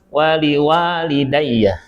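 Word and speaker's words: وَلِوَالِدَيَّ: Nah, wa yang pertama pendek, yang kedua panjang. Waliwalidayya, ya.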